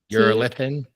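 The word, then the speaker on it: Urolithin A: o l i t h i n a you're a lithan you are a can I put it in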